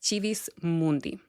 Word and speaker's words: Civis Mundi: So first, we have the Civis Mundi pathway. I use the ecclesiastical pronunciation of Civis Mundi, by the way, just in case you're wondering why it's pronounced that way. But it is Civis Mundi.